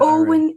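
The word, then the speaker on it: Eoin: you spell Owen in Owen is e o i n that's Owen then the way I think about it is EO yoen that's the way you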